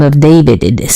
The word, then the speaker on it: D4vd: He goes by the name of David. It is spelled D4 VD, which is weird as hell, but we're not about to go there.